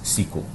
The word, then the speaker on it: SQL: also know else SQL some IT guys actually pronounce it as sequel basically just take the letter SQL and just pronounce it but it actually means